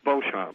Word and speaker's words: Beauchamp: how do I pronounce your last name? It's Beauchamp. It is. You know that there was a pronunciation of Beecham. Oh, sure, I get that all the time.